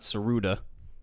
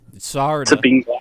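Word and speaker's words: Sarada: It's not Saruda. It's Sarda.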